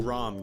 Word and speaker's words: Ram: Rom, guys. That's how they pronounce it in the dub.